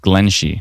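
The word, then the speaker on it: Glenshee: Pronounced Glen Shee.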